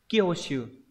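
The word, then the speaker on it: 興趣: Chữ hứng và chữ thú đọc là Kyoshu.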